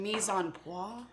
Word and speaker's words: mise en place: M-I-S-E, mise. Mise. And then there's a space, and it's E-N, on. And then place, which is like place. It's spelled like place, but it's French.